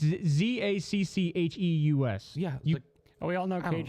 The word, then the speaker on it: Zacchaeus: It's Zaccheus.